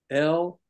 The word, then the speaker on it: libido: along with me now, Libido. Only I pronounced it libido, accent on the lid, short I, instead of libido.